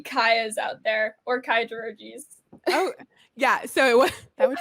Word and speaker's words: Dorogi: But again, check out Kaya I don't want to mispronounce it. Dorogi? Dorogi, that's perfect.